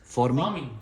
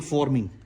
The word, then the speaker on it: farming: farming. Farming, yeah. Farming. Farming, yeah. You are Farming- saying forming. FOR. No, farming. FAR. FAR. No, that I got. Okay. But your pronunciation is like forming.